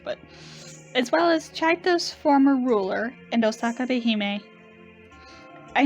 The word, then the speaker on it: Csejte: as well as yeah i looked it up and i guess that's how it's pronounced roughly not how i would have guessed but as well as chaitos former ruler and osaka